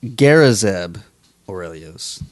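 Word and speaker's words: Garazeb Orrelios: a little bit about Zeb Zeb Rios yes gazb aurelios that's how he pronounced his name crazy name he is only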